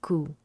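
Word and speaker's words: 九: The number nine and the word pain also share the pronunciation ku.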